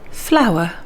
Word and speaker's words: flour: flower flower looks like and sounds like our and